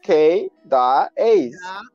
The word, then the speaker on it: Kay Da Ace: even want to go there like it's just k da a's okay some people just call me that ace